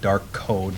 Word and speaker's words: Darkode: I've seen it pronounced Darkode, which wasn't actually the original intention. It was a play on words like dark code, like coding programming. So it's spelled Darkode.